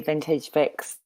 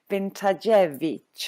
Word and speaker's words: Vintage Vic: I now know it's Vintage Vic. I know, for a long time I thought it was Vintajevich or something, sort of, I don't know, Eastern European.